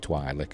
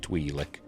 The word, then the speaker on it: Twi'lek: I know I said Twi'lek, I know people pronounce it Twi'lek, but I've always said Twi'lek. I think it sounds better personally, but never mind.